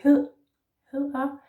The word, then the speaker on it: hedder: And note that the soft D in Danish is with the tongue down in your mouth, like that, in profile, like that.